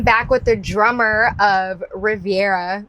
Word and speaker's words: Reverya: I am back with the drummer of Riviera. Re Oh my god, I said it wrong. I got it right the first time. Riveria.